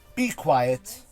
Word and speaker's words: B Kwiet: called be quiet cutscene b as in does the letter b quiet spout kw iet so how quiet would have been spelled if it was spelled with a kw instead of a q u uh hyphen cutscene i'll